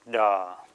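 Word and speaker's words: ཟླ: sixth row ja Z the zah when it has Law subscribed below it comes to be pronounced da strange but true so the six letters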